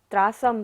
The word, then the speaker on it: त्रासं: रंगत तरंग शिखर स्थित यान पात्रास त्रासम विहाय, त्रासम स के ऊपर बिंदी और बाद में क्या है व, य र ल व होता है बिंदी के बाद, तो बिंदी का उच्चारण क्या होता है म।